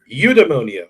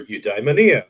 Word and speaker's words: eudaimonia: Basically, you're going to pronounce the word and you're going to put the emphasis on one syllable, and on two syllables. Whichever one you pick is up to you. So it could be eudaimonia or eudaimonia or eudaimonia. It doesn't matter.